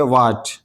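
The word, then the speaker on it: what: तो इस एच को नहीं पढ़ा जाएगा बल्कि इसको पढ़ेंगे व्हाट व्हाट व्हाट नहीं कहेंगे बल्कि व्हाट इसी तरह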